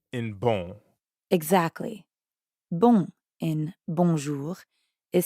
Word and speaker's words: bon: In bon. Exactly. Bon in bonjour is spelled B-O-N. But you don't pronounce that O-N the way you would in English. In fact, the N isn't really pronounced at all.